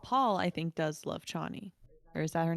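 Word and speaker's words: Chani: I think does love Chie or is that her name did I say that right shaie I think is it shaie that's it I think it's spelled with a CH but it's pronounced sh yeah yeah so that's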